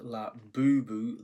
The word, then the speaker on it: Labubu: And for those of you who aren't sure how to pronounce that name, it is La Boou. The stress is on the second syllable.